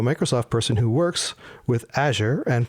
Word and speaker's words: Azure: And now, to me at least, to end the debate about this, we were talking to a Microsoft person who works with Azure and pronounced it Azure.